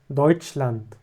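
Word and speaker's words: Deutschland: هنا زي ما قلنا عندنا الا والاو بتتنطق او زيتش او وعندنا الاس والها بتتنطق زي الشين فهنا عندنا دوتشلاند هنا كلمه طويله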